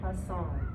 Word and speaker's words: Hassan: But it says handsome. Hassan. That's how you pronounce it.